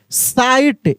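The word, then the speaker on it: sight: पढ़ेंगे रॉन्ग ऐसे wrong साइट एस आई जी एस टी साइट इसमें जी साइलेंट है क्या साइलेंट है जी साइलेंट है साइन पढ़ेंगे ए कैंपेन जी साइलेंट है।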